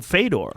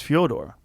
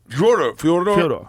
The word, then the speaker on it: Fyodor: Well, Fedor Emelianenko, that's not how you say his name. His name is Fyodor. Fyodor.